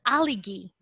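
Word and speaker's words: aligue: So in English, we pronounce it as aligi, right? Aligi. Oh, aligi. Okay, so I found it. So we have to say it aligi, right?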